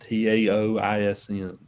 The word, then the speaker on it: Taoism: It's usually pronounced Taoism.